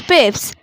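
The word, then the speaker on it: Pepys: But another well known writer, लेकिन दूसरा जो है वो भी अच्छा राइटर जाना जाता है, सैमुअल पिप्स, प्रोनाउंस्ड पिप्स. सैमुअल पिप्स की जो प्रोनाउंस है वो पिप्स है.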